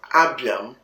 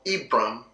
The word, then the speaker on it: Abram: Depending on the tribe you come from, that name Abram could be pronounced as Abiam or Ibram or Ibiam or Bram.